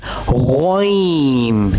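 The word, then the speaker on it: غين: Learn its pronunciation and now the cousin of ain is ghain. Yes, ghain will also pronounce from the upper portion of throat.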